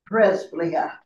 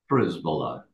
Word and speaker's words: Przybyla: Przybyla. Close. Oh, close again. Hey, well, the thing is that neither of you are wrong. the Polish pronunciation, there's hopefully no Poles here. The P-R-Z is a psh.